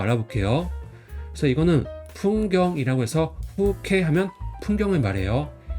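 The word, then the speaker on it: 風景: 단어를 좀 알아보면 음독은 이제 K라고 읽어요. 훈독은 없습니다. 그래서 음독 단어 한번 알아볼게요. 그래서 이거는 풍경이라고 해서 후케 하면 풍경을 말해요.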